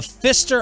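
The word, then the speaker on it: Pfister: haunted hotel in Milwaukee I'm assuming this is pronounced the Fister yeah like the old pitcher for the Mariners Doug Fister yep but PF PF oh okay the Fister Hotel one of downtown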